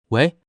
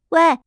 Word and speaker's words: 喂: 课本上说它是第 4 声，就是喂